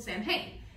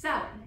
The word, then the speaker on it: Samhain: They celebrated their new year on November 1st in a celebration called Samhain. No, not that one. This one, which is actually pronounced Samhain and means summer's end.